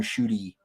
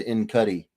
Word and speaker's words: Ncuti: I would not have gotten Shooty. I would have said Incuddy.